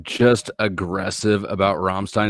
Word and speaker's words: Rammstein: Rammstein. Say it properly. Rammstein. You gotta roll that up. But in the back of your throat, though, not with your tongue.